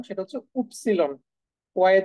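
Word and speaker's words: Ypsilon: মোটামুটি ম্যাটার করে দেখুন দেখেন ওয় এর যে উচ্চারণ সেটা হচ্ছে উপসিলন ওয় এর যে উচ্চারণ সেটা হচ্ছে উপসিলন উপসিলন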